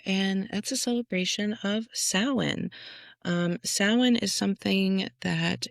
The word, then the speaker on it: Samhain: Um, a lot of people pronounce it Sam Hayne if you've never heard it sounded like said out loud before, but it's sin.